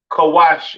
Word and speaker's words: Cush: Cush, pronounced Kawash in the Hebrew, all right?